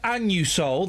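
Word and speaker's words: Anusol: go in and buy my anus Soul that's how it's pronounced I say it loud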